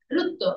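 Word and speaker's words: ṛta: হয়ে বড় সেটা মুক্ত আর টি এ আর সো দ্যাট ইউ প্রোনাউন্স হবো সংস্কৃত রুত্ত রুত্ত হচ্ছে কস্ট অর্ডার বিকজ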